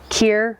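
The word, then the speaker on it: kir: for an aperitif, something bubbly, or maybe a Kier, did I say it right?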